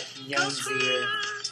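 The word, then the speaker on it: Jónsi: Well, it's spelled Jonsi, but it's probably like Yonzi or something like that.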